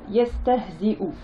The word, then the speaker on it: يستهزئ: Yestehzi'u. Donc ici, hein, le support de la hamza est là et ne se prononce pas. Ce qui se prononce, c'est la hamza, donc la dhamma, c'est-à-dire le son ou.